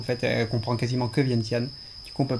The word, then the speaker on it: Vientiane: Le nom se prononce Vientiane.